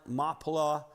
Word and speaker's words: Machpelah: This negotiation of the cave of, and I know it looks like it's spelled Machpelah, but in Hebrew, the C's are silent. Machpelah, owned by Ephraim, the